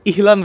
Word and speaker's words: Elan: আজকে আমরা যাচ্ছি ওয়েলসের ইহলান ভ্যালিতে, মানে বেসিক্যালি বানানটা হচ্ছে ELAN, বাট ওয়েলসের ভাষায় ওরা বলে ইহলান ভ্যালি।